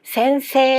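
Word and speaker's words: 先生: 센세 하니깐 애단이죠. 뒤에는 영락 없이 2단이죠. 애단과 2단. 즉 다른 단끼리 만났네요. 이런 경우에도 자이라는 단어가 무음 처리가 되고 애가 이제 이렇게 끌어 주는 형태가 되겠죠.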